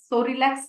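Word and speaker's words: Psorelax: देख रहे हैं आप ये पी से शुरू होता है लेकिन यहां पे पी जो है वो साइलेंट है इसीलिए इसका जो प्रोनंसिएशन है वो है सो रिलैक्स सो रिलैक्स cream ठीक है ये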